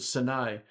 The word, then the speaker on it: Sinai: s s saai and we say Sinai but you pronounce it saai s saai it's possible